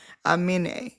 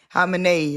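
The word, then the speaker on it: Khamenei: Amine. Amini. Amin. Lord have mercy. The moral of the Anime? story is the KH is silent. The K is silent. It's like Hamini. Hamini. Hamine. Hamine.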